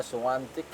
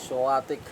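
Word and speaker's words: Świątek: Suwatic or suantik iba yung pronunciation nila suantic pero tayo ay suatic.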